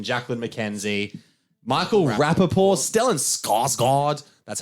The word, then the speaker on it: Skarsgård: Jackson, Jacqueline McKenzie, Michael Rappaport, Stellan Skarsgård.